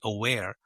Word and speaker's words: Awayre: spell it out because the pronunciation of that name is actually aware, but it's spelled with a Y.